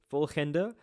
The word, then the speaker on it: volgende: Volgende. So, it goes vol gen de.